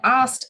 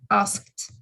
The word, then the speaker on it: asked: a d called as a sound called but asked actually has a sound asked asked so in english the way we pronounce things is not always the way it's